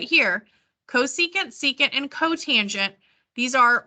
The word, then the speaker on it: cosecant: before okay this is um red this is pronounced cosecant cosecant this is secant and cotangent okay so the